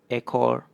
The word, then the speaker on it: ekor: This one relates to the second rule so you can see it's always E paired with an O, you get an "eh" sound. For example: esok, ekor, and korek.